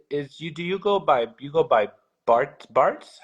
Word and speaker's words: Bartez: And I want to make sure to say do you go by Bart's? How do you say It is Bartez.